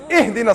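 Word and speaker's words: اهدنا: You better not say, Ahdina sirat al-mustaqim, otherwise I'm going to pound you. It's Ihdina sirat al-mustaqim. Read it right.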